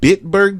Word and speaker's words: Bitburg: Bitburg, Germany?